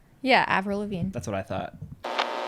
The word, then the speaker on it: Avril Lavigne: tell me how you pronounce it. Avril Lavigne? Yeah, Avril Lavigne.